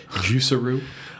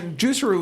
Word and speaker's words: Juicero: here's your first problem if you call your company juicero everyone's call it juicero that rhymes with Underoos which are underwear for children so don't call your